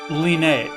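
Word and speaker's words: Leene: So, I've been saying leen or lean, but if you actually read the katakana of it, it is le, you know, but so it it's lean.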